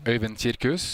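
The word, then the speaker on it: Øyvind Kirkhus: Can you give us the proper pronunciation? Øyvind Cirkus.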